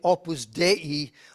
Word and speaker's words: Opus Dei: People have know more about the Opus Dei, that's the proper way to say it, it's Latin, please, the work of God.